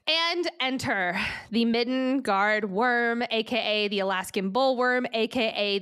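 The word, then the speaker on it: wyrm: she handled herself against the worm, now spelled W-Y-R-M.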